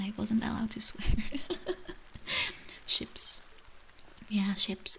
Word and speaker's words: chips: Ships. Yeah, ships. It's spelled the same as chips, but it's pronounced different.